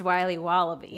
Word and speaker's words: Wiley Wallaby: Wiley's wallabies wallaby Wally's will be wobba beats pronounced Wiley wallaby well it's very good it's called Wiley wallaby and it's delicious all right welcome back to